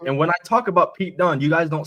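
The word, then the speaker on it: Pete Dunne: that we call him Pete dun Pete February though Pete p t duu n NE all right that's the only way it's ever been spelled it's the only way it's ever been pronounced get it right never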